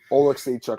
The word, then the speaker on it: Alekseeva: It's kind of spelled similarly, but Alekseeva. I got it right, guys. I actually did it right.